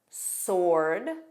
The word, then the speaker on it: sword: Other random words are answer, sir, sir, answer, sword, sore, sword, and to, which you know is pronounced as the same as the preposition to.